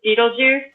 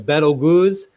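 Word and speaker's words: Betelgeuse: is for that starts commonly referred to as betel goos but sometimes you can call it beetlejuice or Bettles use or so anyone want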